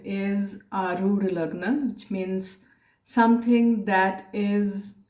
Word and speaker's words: Arudha Lagna: Now, some people call it Arudha Lagna, but the real pronunciation is Arudha Lagna, which means something that is imposed upon you, something that is not real, and your image actually.